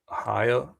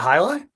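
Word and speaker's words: Hialeah: Um it's pronounced Holia. Holy. It's not Hili.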